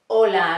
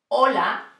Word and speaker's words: hola: hear that I said hola amigos let's see hola means hello this is an age in Spanish we never never pronounce the letter H okay it's silent and now I have